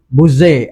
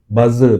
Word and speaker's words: Buzair: Malam ini bersama kita adalah saudara atau lebih dikenali sebagai Buzair. Ya, betul. Ya, Ui, kali pertama orang pronounce nama tu betul. Oh, Kali pertama. Sebab biasa orang buzzer. buzzer.